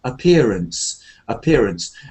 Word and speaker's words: appearance: So, first of all, the word appearance is one of those words like ahead, away, appear. There's no stress on the first a. It's like appearance, and then we have